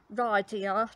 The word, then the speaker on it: Riyadh: Excuse my pronunciation, just say, but it's Riyadh, the capital of Saudi Arabia.